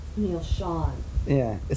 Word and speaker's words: Schon: your L Neil show it's really Sean you know is it Sean I'm saying it wrong well you know people have asked me two different times and I changed my mind now so I went back to shine oh great terrific probably